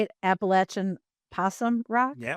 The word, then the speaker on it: Appalachian: There is no other way to pronounce that word. If you pronounce it any other way than Appalachin, you are wrong. If you pronounce it Appalachian, you are damn wrong. Um, and I think there should be severe penalties uh in in society for people who say it the wrong way.